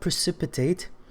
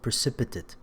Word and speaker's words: precipitate: Alright, so الكلمة الأولى precipitate اللي هي verb هنا، لأن لو noun تنطق precipitate.